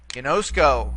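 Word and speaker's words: γινώσκω: Ginosko, the verb meaning to know, or in this case, I know. Here we have three syllables. See, gi, nosk, and ko.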